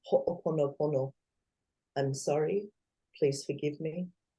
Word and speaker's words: ho'oponopono: There's a Hawaiian saying, it's called ho'oponopono.